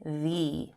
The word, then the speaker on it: the: Ice cream begins with the vowel sound I, so we say the.